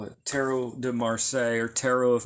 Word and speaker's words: tarot: them teret cards the the second T is silent why because we use the French pronunciation tarot why is the second